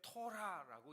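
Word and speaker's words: תורה: 우리가 발음할 때 토라라고 얘기합니다.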